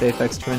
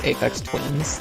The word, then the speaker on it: Aphex Twin: with that sometimes because some people mispronounce Aphex Twin as Aphex Twins, which is kind of funny to anyone who's been listening to Aphex Twin this whole time, you know?